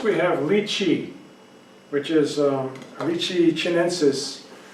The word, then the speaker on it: lychee: So first we have lychee, which is Lychee chinensis. In Thailand we call it Lychee. Some people erroneously call it Lychee, which is not the correct pronunciation.